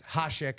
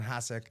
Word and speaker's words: Hasek: It's Hasek, not Hasek.